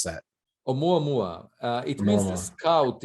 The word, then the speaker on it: ʻOumuamua: it will maya maya or how do you pronounce that o muammua uh it means a scout in the hawaiian